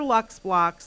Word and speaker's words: LUXBLOX: So these are Lux Blocks. They are available, and it's spelled a very specific way. So it's LUXBLOX.